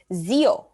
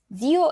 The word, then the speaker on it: zio: in spanish is theo in italian it's zeo with the z for zebra zio izia croissant is french